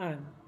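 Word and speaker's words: I'm: फी एस एंड एम तो ये आई एम अलग-अलग नहीं बोलेंगे हम बोलेंगे आम इनका उच्चारण थोड़ा ध्यान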